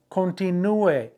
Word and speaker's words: continúe: Continúe, accent on the U, but not on the infinitive, on the command in the yo form of the present tense.